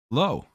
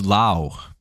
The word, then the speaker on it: Lowe: it's always like oh I see your last name is uh low lwe no it's Lowe it's l it's Lao go